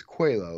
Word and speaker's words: Coelho: he was checking in with me so I pronounce this quello like the Portuguese name right absolutely there's absolutely